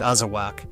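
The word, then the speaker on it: Azawakh: The Azawak, pronounced Azawak, is a tall, stunning sighthound from West Africa, and it completely changes the rare dog conversation.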